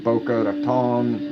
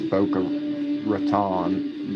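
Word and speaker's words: Boca Raton: Davey and Bokeh Raton. Well, that's the right way to say it. I I think in Florida they it's Bokea Ratan.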